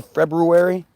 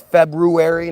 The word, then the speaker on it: February: You notice how I say February? Because that's what it is. It's February, not February, like everybody says.